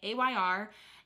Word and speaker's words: Ayr: sell for great money Ayr and maybe you can pronounce it air but I'm pretty sure it's just an acronym as well a yr but 95 is ammo